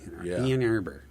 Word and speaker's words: Ann Arbor: In Ann Arbor, Ann Arbor, it's pronounced.